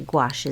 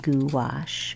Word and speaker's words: gouache: in that gouache wash actually gouache is sometimes pronounced goo wash or I don't know but I like to call it gouache it just sounds fun now I'm going in with